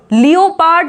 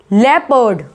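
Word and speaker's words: leopard: लेपर्ड, लियोपार्ड नहीं बोलते हैं, ठीक, कुछ लोग बोलते हैं इसको लियोपार्ड या लियोपर्ड, नहीं, लेपर्ड, लेपर्ड।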